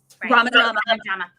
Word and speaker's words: RomaDrama: And we're saying it right. RomaDrama. Yeah. Romantic dramas.